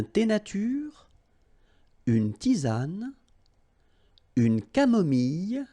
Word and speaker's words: camomille: nature, une tisane, une camomille. So remember when we get this E and then double L, it goes like y.